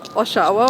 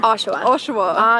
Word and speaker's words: Oshawa: you're born in how do you say it Oshawa or oshaa oshaa oshaa yes and were your parents originally born